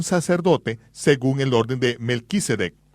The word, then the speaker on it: Melquisedec: Él estaba actuando como un sacerdote según el orden de Melquisedec o como se debe pronunciar de Mel Sadic. Melek, rey, sad justicia.